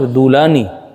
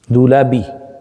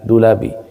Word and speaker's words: Dulabi: half his Abu Basher Dulani Dulabi not dulani doulabi.